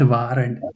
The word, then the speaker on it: während: not während. How do you say? How do you read a umlaut, a umlaut? Like it's like air without r, während.